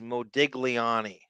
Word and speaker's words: Modigliani: seen how much like if you phonetically pronounce it as an American it says Modigliani he just his pronunciation is so different than what I thought it was there's literally like five consonants that are silent in the pronunciation that leave it up